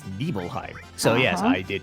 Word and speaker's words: Nibelheim: that you know it's not an Ibrahim it's nibbleheim so yes I did not know that and